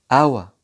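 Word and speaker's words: hour: برضو خد بالك ان حرف ال H مش بننطقه في بداية بعض الكلمات زي كلمة our، honest.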